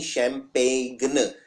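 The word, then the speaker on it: champagne: जी एन ई यानी शैंपेन इसमें जी आता है और 90 पर लोग ये वाला जी नहीं लगाते हैं क्योंकि ये जी बोलने में नहीं आता है यह साइलेंट होता है शैंपेन में एक जी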